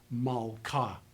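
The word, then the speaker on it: מַלְכָּה: A closed, unaccented syllable takes a short vowel. It's pronounced malka.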